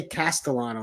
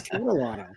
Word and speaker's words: Catalano: And for some reason, every time I see somebody say her name, they want to say Castellano. They want to put an S in there, but it's Catalano.